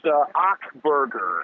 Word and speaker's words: Achberger: It's Achberger. Achberger, okay. Pretty much, yeah, you clear your throat and say burger. All right, guys, we got Achberger, who is frequently known